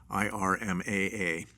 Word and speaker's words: IRMAA: You may be eligible for an increased reimbursement for your Part B premium based on the Income-Related Monthly Adjustment Amount, IRMAA, pronounced IRMA.